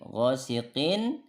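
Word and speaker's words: غاسق: Ghosiqin ini izhar ya. Nun sukun atau tanwin bertemu dengan hamzah. Ini dibacanya jelas nunnya. Beda dengan tadi, ini nunnya ikhfa. Min, tapi kalau ini jelas nunnya. Ghosiqin, in. Nah, jelas innya.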